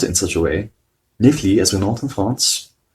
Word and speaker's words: Netflix: And incidentally, the namesake for a very well-known streaming service, Netflix, although they laughed when I pronounced it in such a way, Netflix, as we know in France, Netflix, the TV show and softcore distributor, is known here as Netflix.